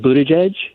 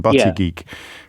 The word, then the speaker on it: Buttigieg: Could you say the name of that politician whose name I just completely butchered for me, just for future reference? Oh, Pete Buttigieg? Buttigieg, thank you. I think I called him Buttigieg, which is not not helpful at all.